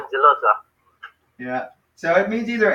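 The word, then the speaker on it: ἄγγελος: And then this one is Angelos. So that one sounds like Angelos. Angelos. Angelos. It's like a name. So when you have two gammas together side by side, you pronounce it like this, Angelos.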